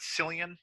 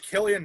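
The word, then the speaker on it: Cillian: so on scarecrow um do you pronounce it sillian or killian murphy uh killian murphy killian he was gosh he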